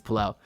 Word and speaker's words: Pelle: that in an interview with pel Larson he pronounced his name pel I've had some people say it's p I've